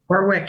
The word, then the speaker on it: Warwick: I don't I've never known how to pronounce the name of this town. Warwick, I think. Warwick, Rhode Island.